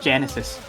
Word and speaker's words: Genesis: But yeah, Genesis, I mispronounced his song name as Genius in the match, in the showcase, but it's not Genius, it's Genesis.